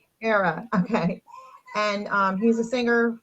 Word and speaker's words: Pereira: Pereira. Pereira.